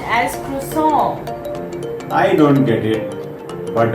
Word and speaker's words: croissant: Is it croissant? Oh no, it's pronounced as croissant.